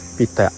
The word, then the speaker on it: pitak: Kalau kami pitak pitak p i t a k pitak and pronounc as pitak.